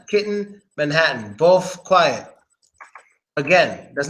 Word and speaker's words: Manhattan: about the Double T A lot of times a Double T is silent when it comes to an N at the end of the word for example silent te that's not kitten it's kitten that's not Manhattan it's Manhattan Manhattan kitten Manhattan both quiet